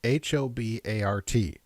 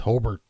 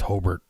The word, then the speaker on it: Hobart: would pronounce it but if you're from the area it's pronounced holbert are your